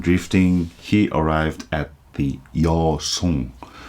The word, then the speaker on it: Yeosong: After the crisis of death and drifting, he arrived at the Yeosong. You know what Yeosong is? Chinese character pronunciation, Korean style pronunciation of Luzon.